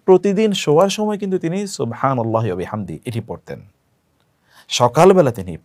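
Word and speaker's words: سبحان الله: সুবহানাল্লাহি scene এর উচ্চারণটি শুদ্ধ যেন হয়।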